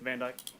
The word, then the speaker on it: Van Dyke: And sir, are you Van Dyke? Yes, ma'am. Did I pronounce that right? Yes, ma'am. Van Dyke.